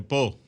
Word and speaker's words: Pau: de la universidad de pop se escribe pau porque se pronuncia pop del sur de francia